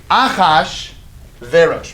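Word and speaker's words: Achashverosh: I no say no no no no it's akash Varys ready oh gosh oh gosh Akash barish one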